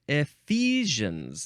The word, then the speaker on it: Ephesians: And I think that's going to be in the next episode, Ephesians. That's how you really say it. Ephesians. Because I just looked at the pronunciation.